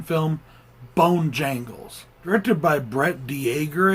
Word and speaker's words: Dejager: Directed by Brett Dejager, I think is how it's pronounced, because it's D-E-J-A-G-E-R.